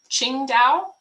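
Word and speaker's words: Qingdao: michelle it is in china ching dao i believe is how it's pronounced but i'm not sure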